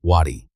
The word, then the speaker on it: Waddy: Strip away the spelling and you find something older, but by the 19th century the family carried it as a plain, hard, two-syllable surname, Waddy, and Stan Waddy carried it into history.